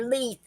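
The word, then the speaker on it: Leif: glance Leith l-i-e-f can be easily confused for Leith l-e-l-e-i-f a male name of scandin skin danabian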